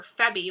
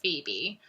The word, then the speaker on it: Phoebe: e b p-h-e-b-y and i spent most of the book calling her febbie by accident and then i realized halfway through that it's phoebe i felt really really